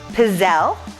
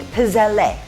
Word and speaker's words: pizzelle: we're going to do pizzelle which is how i learned to pronounce it but it's got an e on the end of it when you spell it and from what i've learned you always pronounce e at the end of an italian name as eh so maybe we're making pizzelle i'll have to check